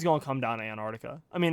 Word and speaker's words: Antarctica: I don't know man do you even pronounce that first SE Antarctica I guess you do but it's really it's a hidden it's a hidden pronunciation Australia by the way